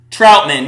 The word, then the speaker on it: Troutman: Troutman, yeah, like Mike Trout.